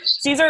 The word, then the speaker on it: Caezer: at i am caesar caesar is spelled kind of funny it's c-a-e-z-e-r so i am caesar